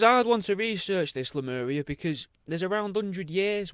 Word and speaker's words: Lemuria: like i say this week it's all about lemuria or lemuria lamoria i'm going to go probably for lumoria even though it's it's spelled l-e-m-u-r-i-a but lemuria a lost continent that's